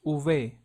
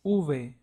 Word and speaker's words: uve: v w and X larvy in Spanish sounds like uve another way that this letter is pronounced is uve so in Spain it is pronounced uve and in most Latin American countries it is pronounced uve so both are correct and it sounds similar to the one in lava so an example will be